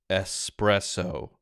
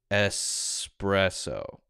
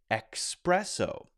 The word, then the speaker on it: espresso: this as it should be pronounced which is espresso espresso they pronounce it as a similar word e-x-p-r-e-s-s which